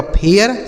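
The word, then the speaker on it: fair: तो अगर ए के साथ आई लिखा हो तो उसे हम ए की मात्रा लेकिन ए आई के साथ अगर आर लिख दिया हो तो ए पढ़ेंगे। ठीक है? तो इसका सही उच्चारण क्या होगा? एफ से हो गया फ। इस ए आई का उच्चारण ए आर से र ये लिखा गया आपका फेयर। इसे पढ़ा जाएगा फेयर।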